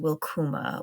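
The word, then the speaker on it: wilcuma: So when I say welcome, I think of the word welcome coming from old English and it uh is pronounced wilkuma which combines will meaning desire or wish and kuma meaning come.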